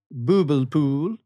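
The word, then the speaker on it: bubbelpool: Is boobel pool. That's how you say it. I'm not kidding. It's bubble pool. Booble pool. Okay. And if you say that to a Swedish person, like, it's not booble pool, it's booble pool.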